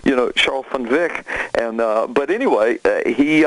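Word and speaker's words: Charl van Wyk: but but Mr funv that's how his name's pronounced and and the way it's written he he always gets called Charles Van Wick and and and he explained to me in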